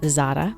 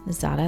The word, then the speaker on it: Zara: i was in uh zada zada that's how you say it right spanish i was in zara we'll say like that